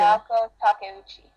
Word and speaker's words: Naoko Takeuchi: And in the last chapter, Naoko Takeuchi, I think pronounced it. Naoko Takeuchi.